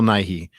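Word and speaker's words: Nighy: you pronounce this building bill not knight yeah bill nye um so i was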